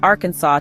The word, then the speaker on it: Arkansas: Arkansas a 1947 law declared that the correct pronunciation is Arkansas to preserve State Heritage enforcement is rare but